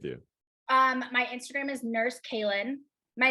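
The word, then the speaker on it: Kailin: um my Instagram nurse Kalyn my name is spelled k-a-i-l-i-n there's no T in there just so you know thank you for that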